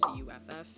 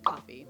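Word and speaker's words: Cuffie: with my last name they pronounce it cuff which is the correct way to pronounce it by the way or the more common one being coffee you'd be surprised how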